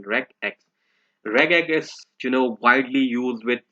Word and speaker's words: regex: And here is the pronunciation regx.